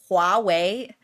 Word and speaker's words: Huawei: pronouncing Huawei or something like that? It's pronounced Huawei, but we're not gonna...